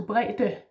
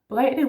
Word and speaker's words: bredde: brede to bredde, yeah, bredde with two D's, brede, which is not wide, but more like width, or width. Can't really say it. See, you can teach me some pronunciation here. Brede, this is a normal D, if you could say that.